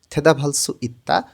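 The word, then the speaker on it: 대답할 수 있다: কিছু করতে পারা উচ্চারণটা বিয়োগ ভাতমের পরে যখন হিউত থাকে তখন বটা হিউতের স্থানে গিয়ে ফ এর মতন উচ্চারণ হয় উচ্চারণটা হবে থেদাভালস ইত্তা উত্তর দিতে পারা হারু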